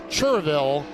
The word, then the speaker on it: Cherryville: the speedway from cherryville and yes it is spelled cherryville but if you're in north carolina you will be corrected it's cheerville lance moss lance moss